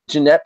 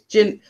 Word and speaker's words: Jeanette: So wait, I called you Jeanette all this time. Oh my god, I'm embarrassed. No, it's Jeanette. It's Gin, but it's spelled Jeanette. If you know what I mean.